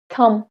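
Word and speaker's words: thumb: इसका प्रोनाउंसिएशन है थम, इसका बी जो है वो साइलेंट है, हम क्या बोलते हैं?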